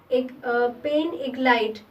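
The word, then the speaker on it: pain d'égalité: इसको फ्रेंच में कहा जाता है पेन इग्लाइट, डी इसमें साइलेंट है, पेन इग्लाइट कहा जाता है इसको, इक्वालिटी ब्रेड, जिसका लोफ जो है वो होल व्हीट से बना होता था।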